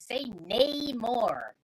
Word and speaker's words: Namor: Someone doesn't like my pronunciation of Namor as Falcon. Definitely say Namor.